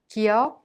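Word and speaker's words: 기역: Kiok is not a strong K sound or a voiced G sound, but pronounced in a soft K sound in an initial letter.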